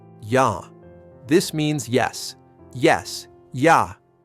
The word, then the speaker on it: ja: Yah. This means yes. Yes. Ya. Ya. Ya. Pronounced like ya, not ja. The J in German sounds like Y in English.